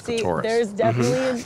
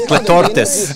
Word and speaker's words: clitoris: There they go over to look at it, and Domenico tries to convince her that that's actually his clitoris. Which he says clitortis.